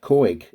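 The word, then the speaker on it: Couhig: club by uh the american businessman uh rob koig um i think i've pronounced that right have i pronounced that right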